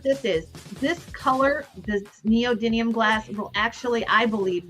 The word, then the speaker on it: neodymium: This is a neodymium. Did I say it right, George? Yes, I finally just learned how to pronounce that correctly. This is a neodymium sweet tweet in lavender.